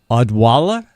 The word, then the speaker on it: Odwalla: I hope someone writes it down because I can't even pronounce it. No, it is Odwalla.